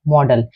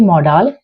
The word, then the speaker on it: modal: आज जो मैं आपको टॉपिक सिखाऊंगी उसका नाम है मॉडल। इसे मॉडल नहीं कहा जाता है, इसकी करेक्ट प्रोनाउंसिएशन मॉडल होती है।